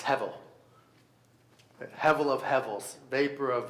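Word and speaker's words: הבל: But hevel is how you'd pronounce it.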